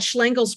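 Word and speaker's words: Szlengel: But the documents that Schlengel's poem, Schlengel is his name, in case you're wondering how to pronounce it.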